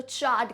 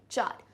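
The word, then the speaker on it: charred: अब यहाँ पे ये चार्ड र का साउंड बहुत ही कम आएगा. इट्स जस्ट आपको प्रोनाउंस जब आप करोगे तो चार्ड करके बोलोगे. How will you speak it, चार्ड.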